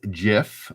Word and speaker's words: GIF: stand for what does jiff or gif i say gif but apparently the creator of it says you should pronounce it jif stand for anybody know